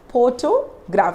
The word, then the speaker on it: photograph: photograph photograph photograph means we are stressing on the first syllable pho 4 okay photograph photo graph so i'm not stressing on the letters t or g here i'm just stressing on the word for photograph photograph here the same